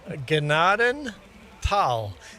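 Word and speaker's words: Gnadenthal: Ganaden. Tal. If there's any silent letters, it's the H.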